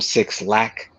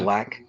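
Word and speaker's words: Blxst: artists like her, um, Black, which is spelled with a six, where people call him Six Lack, but it's Uh-huh. Black.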